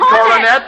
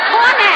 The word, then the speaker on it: Coronet: You would read Coronet in the Pocket Magazine. Your best bet. That's very good. I thought you said cornet. I said coronet. 3 syllables, just as plain, Mrs.